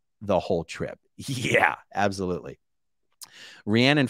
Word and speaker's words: Rhiannon: Rhiannon, whoa, you pronounced both my names correctly.